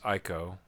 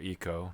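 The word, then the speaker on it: Ico: Uh one of the better ones of course is Ieko or Eco depending on how you pronounce want to pronounce it and um this game as well.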